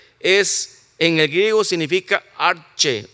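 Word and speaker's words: ἀρχή: La palabra principio aquí, gracias, hermano Jesús, eh es en el griego significa arche o se pronuncia arge, que está antes de la fundación del mundo.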